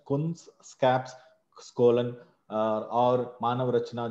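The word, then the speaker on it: Kunskapsskolan: एक Sweden university का नाम है कुंस्कैप बोल के, कुंस्कैप स्कोलन बोलते हैं अगर आपको प्रोनाउंसिएशन, कुंस्कैप स्कोलन, और मानव रचना जो फरीदाबाद में है।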